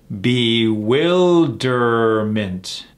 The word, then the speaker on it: bewilderment: about his habits bewilderment how many syllables in this bewilderment and where are we putting the emphasis on the second one bewilderment bewilderment a feeling